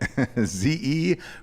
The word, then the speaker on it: Zebit: Rhymes with debit. Zebit.